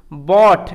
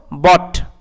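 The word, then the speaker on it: bought: বা পালকটিকে, অ্যান্ড এবং বট, এখানে দেখো ও ইউ জিএইচ টি, এটার একত্রে উচ্চারণ অট এরকম টাইপের হয়, ও ইউ জিএইচ টি একত্রে কীরকম উচ্চারণ হয়, অট এরকমভাবে, তো একসাথে এটাকে কীরকমভাবে পড়বো, বট, বট মানে ক্রয় করা,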